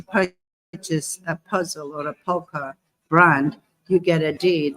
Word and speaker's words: PAUCA: It's pronounced PAUCA, and it stands for Pan-African United Community Advocacy.